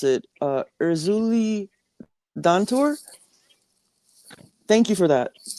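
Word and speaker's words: Erzulie Dantor: Uh, how do you pronounce it? Erzuli Dantur.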